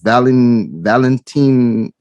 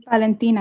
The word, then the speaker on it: Valentina: shot, and I believe her name was Valentine. I'm not too sure how to pronounce her name. Can somebody? Valentina.